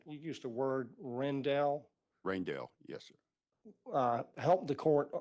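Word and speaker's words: Rijndael: And it's named after a fellow named Rendell, Yes. but it's spelled, it doesn't, Raindell, yes, he's Indian.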